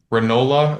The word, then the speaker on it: Ranola: You could follow me on Ranola with a dot in the middle, and that's the last name is spelled like granola, but with no G.